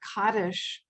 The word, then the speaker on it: Kaddish: one about a work by someone called rachel kaddish on the weight of ink where she corresponds